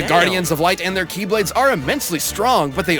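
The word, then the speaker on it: χ-blade: means the x blade it's just pronounced like keyblade even though it's just one keyblade ah the series is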